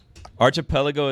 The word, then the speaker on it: archipelago: I think it's Arc at the start. It's Arc. Archipelago is a group or chain of islands clustered together, often in an ocean or sea.